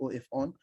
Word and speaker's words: Ofon: So call the number that you can call me Ofon. Ofon is spelled OF on, OF on, off and on, join together Ofon.